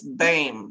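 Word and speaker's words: Boehm: is it gonna be her last name is b-o-e-h-m but it's bame that's how she pronounces it i think diane bane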